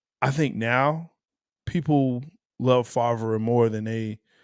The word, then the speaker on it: Favre: One with Favre and one with Rodgers.